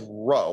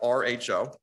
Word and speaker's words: rho: two different things our first one is row like um i'll i'll type it out r h o that's how you spell it rho like the greek letter row the first one is